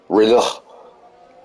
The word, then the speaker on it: Renault: Like Reno, Nevada. No, no, maybe you gotta pronunciate really the Renault. Oh, Renault. There you Yeah, go. really Yeah. get your throat going with the French language there.